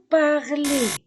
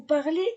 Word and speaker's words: parlez: prononce pas le S vous parlez e Z je ne prononce pas le Z le Z il elle